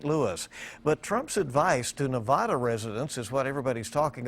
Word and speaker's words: Nevada: While campaigning in the swing state of Nevada, native New Yorker Donald Trump started the rally by telling locals how to pronounce the name of their home state.